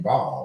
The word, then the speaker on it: Baal: And then it was Ishtar, who was over fertility, and Baal or Baal, whichever pronunciation you want to use.